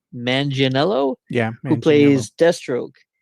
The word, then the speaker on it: Manganiello: Joe, I always get his last name wrong. Manganiello, Yeah.